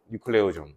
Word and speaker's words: 뉴클레오솜: 이거를 뉴클레오 좀이라고 불러요 뉴클레오 좀 그래서 교과서나 참고서 표기에는 리클레오 소음이라고 표현되어 있을 건데 읽을 때는 뉴클레오점이라고 읽어주면 돼 알겠어 그냥 영어 발음 표기상 그렇게 된 것 뿐이야 알겠죠 그러면이 클레오점이 결과적으로